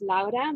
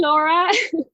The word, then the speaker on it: Laura: the US but I always introduce myself as LA because that's my name that's how we pronounce it in Dutch as well but here everybody's like oh hey Laura that's funny funny I always have to remember